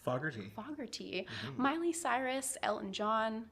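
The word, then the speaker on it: Fogerty: Starr, Ann Wilson, John, how do you pronounce pronounce? Fogarty.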